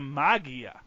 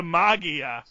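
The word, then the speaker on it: Maggia: the Magi m-a-g-g-i-a the magia or wouldn't that be the Maja it is 2G it does have a hard G it's a hard G oh Jesus apparently I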